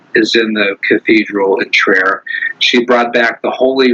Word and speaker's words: Trier: In Trier, Germany. So Trier is spelled like Trier, Trier, and it is a very religious city.